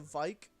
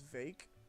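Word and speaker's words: Vaike: We got the uh we got the Vike. Um enter the V. Oh is watching. Oh, his name's Vake. Oh, I thought his name was Vike. Yeah, it's He pronounces it vague in game.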